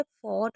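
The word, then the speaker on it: fought: कहीं पर भी जी एच टी दिखे तो आप इसे ट पढ़ेंगे क्योंकि जी एच हमेशा साइलेंट रहता है तो इसको ट पढ़ा जाता है। जैसे फोर्ट हो गया।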